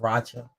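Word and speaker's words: Rocha: said is pronounced but I think it's pronounced Racha this is r-o-c-h-a but uh brochure Roger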